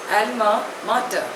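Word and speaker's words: alma mater: hence he feels insecure the next word is एलमा martyr spelling is ए एल एम ए एम ए टी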